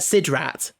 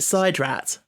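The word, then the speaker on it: SIDRAT: It looks like Sid Rat, but they pronounced it side rat.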